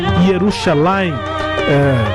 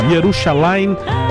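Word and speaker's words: ירושלים: Agora uma música cantada em hebraico, inclusive, né, israelense, Shabeki Yerushalayim. Diferente, né, a pronúncia do que a gente está acostumado com Jerusalém, mas é isso, Yerushalayim, a música que tem várias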